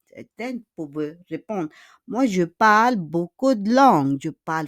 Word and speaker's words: parles: And also parle. Parle. It's not parles, huh? Parle.